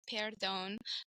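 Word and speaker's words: perdón: confused on the word in English pardon in Spanish it's Peron but in French it's parone so to me I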